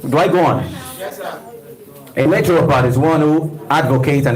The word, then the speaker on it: naturopath: P okay natural part let's all say natural part naturopath let's say naturopath I'll spell it n a t u r o p a t h naturopath see a natural